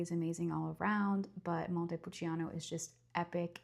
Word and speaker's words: Montepulciano: It's not pronounced Montepulciano, it's Montepulciano. It's like ch like the c is like a ch.